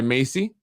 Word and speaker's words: MHACY: section 8 here in the city is handled by macy pronounced macy like the name or macy's the store which stands for uh